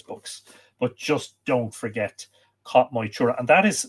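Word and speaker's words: Cath Maige Tuired: But just don't forget Cat Moitura. And that is spelt, just in case you need the spelling, CatMaigeTuired.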